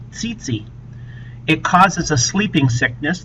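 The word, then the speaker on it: tsetse: there are Titi flies you pronounce it Titi Titi it causes a sleeping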